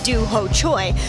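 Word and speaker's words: Dooho Choi: Tio Thiago tarz may not know how to pronounce his opponent's name that is Doo Choy but he certainly understands what he's facing in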